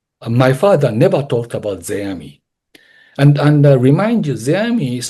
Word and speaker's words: Zeami: Zeami, excuse me, Zeami, that's my Zeami, Zeami.